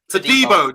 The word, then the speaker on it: Todibo: I want you to help me out on this one, Dan, because Emma's ripping me for mispronouncing the name of John Clair-Todibo. Todibo, I think he's called. Todibo.